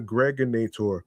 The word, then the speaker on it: Gregonator: This is your man and homie, aka the Gregonator, rhymes with now or later, your host with